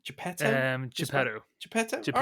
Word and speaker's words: Geppetto: I always get the guy's name wrong. Geppetto.